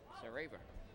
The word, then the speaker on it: Sareva: Rhymes with Chuck Paver, the Gulls GM. That's how I remembered his name, Sareva.